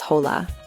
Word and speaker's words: hola: The most common greeting in Spanish is hola. Remember the h is silent, so we say hola.